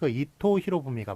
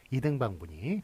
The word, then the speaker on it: 이토 히로부미: 풍신수길이 이제 그런 표기는 틀린 표기가 되겠고 역시 이토 히로부미가 맞지 이등방분이 그렇게 맞다고 얘기할 수 없는 틀리다고 얘기할 수 있는 그런 규정이 되겠습니다. 그래서 14번은 하여간 어쨌든 일본식 인명은 일본식 발음대로 한다.